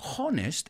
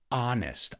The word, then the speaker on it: honest: often mispronounce it's not honest it's honest ah think about when you go to the doctor or the dentist and they say open your mouth say ah well that's the sound